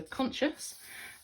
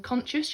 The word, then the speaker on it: conscious: of their mistakes okay so conscious and within conscious you have a silent sea after and s okay five the gem